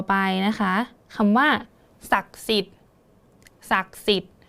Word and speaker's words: ศักดิ์สิทธิ์: คำ ว่า ศักดิ์สิทธิ์ ศักดิ์สิทธิ์ เรา ก็ จะ ไม่ อ่าน ออก เสียง อะไร คะ อัน นี้ จะ เยอะ นิด นึง ก็ คือ ด เด็ก กับ สระ อิ ก็ จะ ไม่ อ่าน ออก เสียง ออก มา นะ คะ เพราะ ว่า ธนาคาร